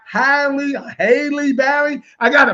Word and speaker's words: Halle: a good job but haley i always say her name my wife always tells me boy you're saying the name wrong like it's like highly haley barry i got